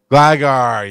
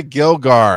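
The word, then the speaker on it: Gligar: the name of it glygar yes i could always say gilgar and i say it wrong uh go figure that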